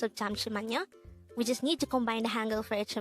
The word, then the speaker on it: 잠시만요: the yo character itself again that's the four syllables of cham shimano we just need to combine the angle for